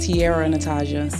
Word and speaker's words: T'Ara Natizha: your your stage name my name is pronounced Tierra Natasha okay yes um and my real name my real name is Tiara so it's just spelled different okay how did you